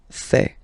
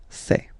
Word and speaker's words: fais: Je fais. Remember, final S not pronounced. Je fais.